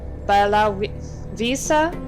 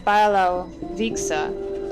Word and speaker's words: Białowieża: old churches, and visiting Białowieża National Park with me instead. I'm assuming it's the W is pronounced as a V because I assume we're in Germany.